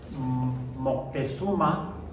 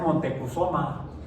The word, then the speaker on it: Moctezuma: un poco diferente, pero así como los españoles luego no eran muy buenos pronunciando el náhuatl, quizá por eso le decían al emperador que encontraron aquí cuando llegaron a Moctezuma, le decían Montecuzoma. Y los gringos están peor. Los gringos decían Montezuma. Está hasta en la canción,